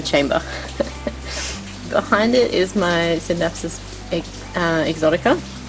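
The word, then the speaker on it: Scindapsus: is my synapsis exotica sorry i just can't pronounce the c in syndaxes i feel like it's wrong i'm i'm probably wrong everyone else is probably right but i can't bring myself to do it so this is the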